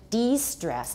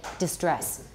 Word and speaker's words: de-stress: two stress new information de-stress d-e s s-t-r-e-s-s r e s s because a lot of you say distress what's the distress d